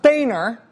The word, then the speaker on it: Boehner: an M but rather Rachel an Boehner it's pronounced Boehner uh the state of Texas for a long